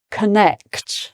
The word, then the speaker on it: connect: And then with an O, it's still connect. So necked, that's the stressed part.